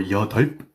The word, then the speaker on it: 여덟: Korean numbers is that the B here is silent. So do not say 여덟 or 여덟. Say 여덟 as if the B is not there at all.